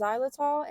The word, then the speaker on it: xylitol: My dog ate a pack of gum, and if you don't know, gum has, I believe it's pronounced xylitol in it, which is toxic to dogs.